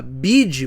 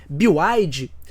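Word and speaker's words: BYD: existem as montadoras chinesas em especial a bide mas a pronúncia correta parece que é bioide do outro lado do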